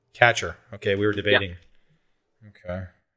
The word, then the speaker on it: Kacher: bases so um hey chris what's the proper pronunciation of your last name catcher catcher okay we were debating okay well guys um